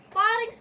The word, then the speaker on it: pharynx: Parings pala pagbigkas nun.